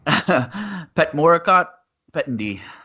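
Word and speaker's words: Petchmorakot Petchyindee: And since you did a little bit of training at that Petchendy Academy, I'll go ahead and let you pronounce the fighter's name. Petchmorakot Petchendy.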